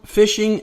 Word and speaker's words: phishing: They note that there's been a surge in email, phishing, and malware schemes. Phishing, pronounced like fishing, but it's spelled PH, is a scam where